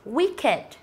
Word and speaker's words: wicked: đó chính là từ wicked, wicked và từ naked, naked. Thì hai từ này là hai từ mà chúng ta kết thúc không phải là t và d nhưng mà vẫn đọc là it.